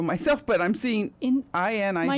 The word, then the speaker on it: Inigo: It makes sense because he's probably from a place where I is pronounced E.